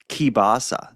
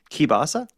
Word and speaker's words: kielbasa: My grandfather used to buy it all the time, and I know it as kielbasa. That's how my grandfather pronounced it. Yeah. Have you ever heard of kielbasa?